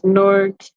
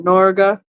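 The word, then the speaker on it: Norge: There's Norg or Norga, depending on how you like to pronounce it.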